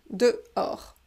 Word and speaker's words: dehors: es dehors dehors alors dehors c'était un mot un peu difficile parce que on ne prononce pas le h et on ne prononce pas le s final dehors dehors c'est bon on